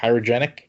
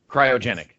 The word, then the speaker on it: cryogenic: Um but yeah, of course that that chairoy what how do you pronounce it? Kyogenic. Cryogenic freezing of her face.